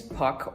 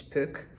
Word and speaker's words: Puck: a little puck so my name is puck or pook or actually in Dutch it's book but no foreign speaker foreign language picker can ever pronounce that which I'm supposedly